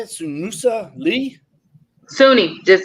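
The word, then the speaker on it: Suni: a little about how you say itusa Lee Sunni just say Sunni a ain't nowhere Sunni Lee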